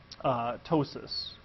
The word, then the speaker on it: ptosis: an event called renal ptosis. That's the P is silent on this.